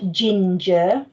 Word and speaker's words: ginger: the words um ginger ginger too sounds in that word ginger neither of them are that letter j so focus on where that soft g goes in ginger take care with that sound as well it's quite a short sound ginger here we go